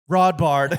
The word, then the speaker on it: Rodbard: Friday Fiasco with Matt Rodbard. Rhymes with raw bar.